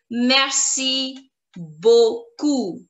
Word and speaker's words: merci beaucoup: lot, you would say merci beaucoup, where P is going to be silent. Merci beaucoup. Merci beaucoup. Merci beaucoup. Merci beaucoup.